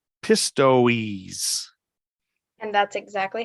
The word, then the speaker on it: Pistoiese: Pistoiese. And that's exactly how you pronounce it.